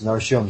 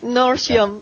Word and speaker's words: Nortium: It is pronounced as Norium. Shaharion. Norium. Saharium. Sorry. Okay. Norium. Although it's spelled as N O R T I U M.